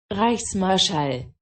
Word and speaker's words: Reichsmarschall: Reichsmarschall.